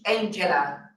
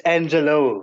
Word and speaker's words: Angelo: We will now move to Angela Jefta. I'm sorry if I pronounced the surname wrongly, but I see Angela here. Good afternoon. No, it's Angelo. Let me correct that.